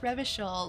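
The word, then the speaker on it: Revachol: I love it here I go reval right pronounced rishel luckily there's like voice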